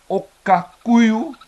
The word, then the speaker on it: okakuyu: of my own that indeed okakuyu is the correct pronunciation I'm not sure how